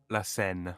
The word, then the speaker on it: Seine: La Seine.